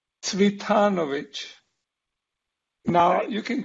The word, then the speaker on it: Cvitanović: bit weird this name only my mother knows how to pronounce his name but my best imitation of my mother is predrag sweethanovich now you can call